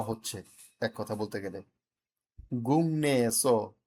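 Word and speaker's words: 국내: গুং নে এসো, গুং নে এসো, গুং।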